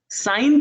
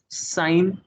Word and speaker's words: sine: Sine theta, sine of theta, short form is sine theta. Sin theta, people say, but it's sine. You pronounce it as sine only.